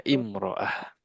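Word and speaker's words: امرأة: Almarah kalau tidak pakai al bacanya imroah.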